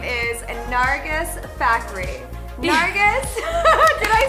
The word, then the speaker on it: Nargis Fakhri: Her name is Nargis Fakhri.